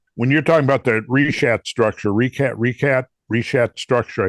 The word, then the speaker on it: Richat: When you're talking about the Richat structure, Richat structure, I think it's a soft C. Yeah, that's it. That Richat.